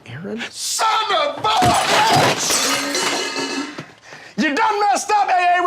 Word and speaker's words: Aaron: you say it the first time i said ay-ay-ron because it's pronounced aaron you don't know stopping any wrongs in those